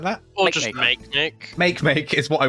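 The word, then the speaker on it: Makemake: that it is make make is it actually pronounced make make now it is how much can cope and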